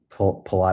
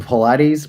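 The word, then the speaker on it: Paulides: You know, obviously with things like what is a missing 411 and and David Pilot, I always say his name wrong. Pilates. Pilates. Yeah. Pilates.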